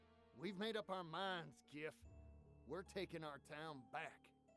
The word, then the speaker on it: GIF: GIF! It's pronounced GIF!